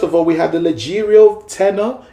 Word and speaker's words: leggero: So first of all, we have the Leggero tenor. It's spelled Leggieiro.